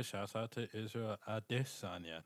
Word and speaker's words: Adesanya: Shouts out to Israel Adesanya, man. Like it's a pretty big deal. I was just gonna say, shouts out to Israel Adesanya, not Adesanya, but Adesanya.